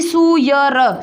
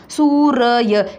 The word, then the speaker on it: सूर्य: फिर यह सूर्य, सूर्य, ना कि सूयर, सूयर नहीं, सूर्य। क्या खास बात है इस र की, जहाँ लगता है उससे पहले इसकी आवाज़ आती है।